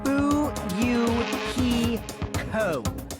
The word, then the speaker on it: Fuyuhiko: My first name is pronounced Fuyuhiko. Fuyuhiko.